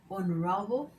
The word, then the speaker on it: honorable: If you are using a word with a silent sh, such as honorable or honest, then you have to use an.